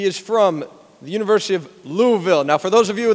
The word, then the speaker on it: Louisville: he goes to school it is one syllable louisville it is not louisville it is not louiseville it's louisville which we were corrected a